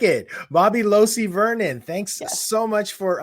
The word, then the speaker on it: Losee: actually my maiden name it's pronounced losi and okay opposite of hi-c i like it bobby losey vernon thanks so much